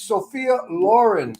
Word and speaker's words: Sophia Loren: uh Sophia Loren movies uh Lauren Lauren it's Sophia Lauren Sophia Lauren movies okay and what quantities when